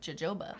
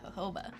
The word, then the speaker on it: jojoba: oil the jojoba oil spelt with the j so it looks like jojoba but it's actually jojoba um the shelf life